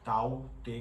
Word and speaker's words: Tauktae: ताऊ ते नाम है वो म्यांमार से आया, इसलिए इसको इस तरीके से प्रोनाउंस किया जाता है ताऊ ते करके।